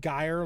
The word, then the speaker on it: Geyer: Pronounced Geyer like Dyer.